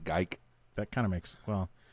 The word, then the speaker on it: Geike: or something no it's so it's GE I see Kay and they all say geek but he he pronounces it geike that kind of makes